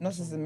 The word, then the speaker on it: Gnosticism: Gnosticism, yeah.